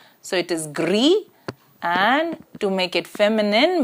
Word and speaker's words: gris: masculine here is Gris the s in the ending is not pronounced so it is Gris and to make it